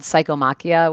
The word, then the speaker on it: Psychomachia: I have my channel is called Psychomachia, which is spelled psycho like with a P, you know, like the Greek psychomachia, Machia.